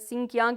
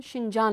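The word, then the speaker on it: Xinjiang: जिस असी आम तौर पर सिंकियांग कहने आ अच्छा ये होवे। ते सिंकियांग। अच्छा, अच्छा, लेकिन एम्बेसी से जो साने पूछा उन्होंने कहा कि तुसी इसनू शिंजान लिख सो, अच्छा क्योंकि असी इस तरह प्रोनाउंस करने हैं ना।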